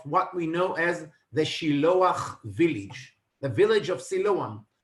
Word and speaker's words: Shiloach: The word Shiloach in Hebrew was actually translated to Siloam, which mistranslated or mispronounced later on by Arab-speaking people as Siluan.